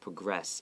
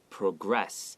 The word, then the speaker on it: progress: And progress is spelled P-R-O-G-R-E-S-S, progress. And if it's the verb form, it's progress. If it's the noun form, it's progress. So they're spelled the same way, but they're pronounced differently.